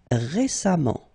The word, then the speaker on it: récemment: Récent, récemment. Et on prononce comme s'il y avait un A. Récemment, pas sciemment.